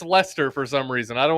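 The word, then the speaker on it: Leicester: Also, Lchester is pronounced Lester for some reason.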